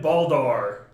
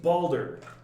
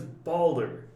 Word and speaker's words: Balder: charlie's like and then baldar he's not a viking it's balder the character's name is balder balder like boulder but with an a